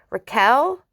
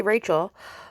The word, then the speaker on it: Raquel: Raquel Leviss, which I said it right, I usually say Rachel, with whom Sandoval had